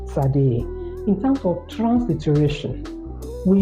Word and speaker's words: Tsade: But in terms of pronunciation, is T and S we must pronounce together.